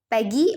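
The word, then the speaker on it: Peggy: और कभी कभार वो लोग यहाँ पे कौन, पैडी और मैगी, अच्छा सॉरी मैंने उसको रॉन्गली प्रोनाउंस किया, पैगी और मैडी, ठीक है, मैंने थोड़ा सा वो यस पैगी और मैडी उसका कभी कभार मजाक उड़ाते थे।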